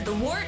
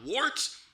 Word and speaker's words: Wort: It is the Wort. Not wart, not fort, not short.